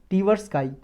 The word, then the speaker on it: Tversky: याद रख सकते हो डेनियल कैनेमैन और आमोस टीवर्सकाई।